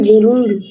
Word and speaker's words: gerund: নন ফিনিট ভার্বের জেরুন্ড। বুঝি নাই। স্যার জেরুন্ড মানে কি? নন ফিনিট ভার্বের কাছে জেরুন্ড। জেরান্ড উচ্চারণ হচ্ছে জেরান্ড।